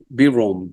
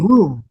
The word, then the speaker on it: Vroom: So Eddie in 18 1989 you scored the failed feature film Broom if I'm pronouncing it correctly. Um Vroom Vroom.